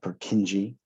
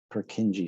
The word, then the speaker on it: Purkinje: lot of this you have this is a purkinje purkinje so i think i'll spell it right for you the j at the